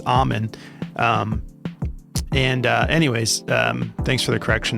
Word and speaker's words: Amen: It's Amen. Anyways, thanks for the correction there. I like to pronounce it the right way.